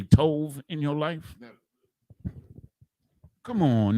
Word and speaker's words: tov: And one of the ways they pronounce it is with a va. They do the va instead of a ba. Like we say tawab, which is good. They say tov.